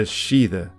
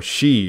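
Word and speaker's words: sídhe: to be lord of the shida or she in modern pronunciation the fairy mounds and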